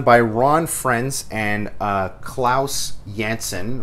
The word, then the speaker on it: Janson: Ron frenz and Klaus Janson or Janssen depending on your pronunciation amazing spider-man number 33